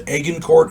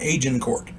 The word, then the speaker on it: Agincourt: of aegon Court a-g-i-n-c-o-u-r-t I've heard it pronounced again court and agencourt uh I'm going with the engine Court excuse me something to